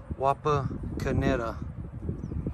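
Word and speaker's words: Wapakoneta: we've stopped here in a small town called wapa kineta ohio there it is that's how you pronounce the name of the town wapa kaneda ohio i wanted to stop here the entire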